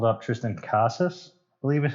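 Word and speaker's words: Triston Casas: a couple other guys red sox called up tristan casas i believe is how you say his name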